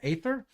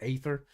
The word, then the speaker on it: Aether: I think I actually pronounced it Aether, because it's spelled Aether. So almost like a at the front of it, but not quite a hard A. But you could go that way too, I suppose. Aether.